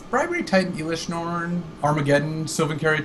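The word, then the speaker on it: Sylvan Caryatid: Silven cared. There's like sorry silven karate according to some pronunciation guides.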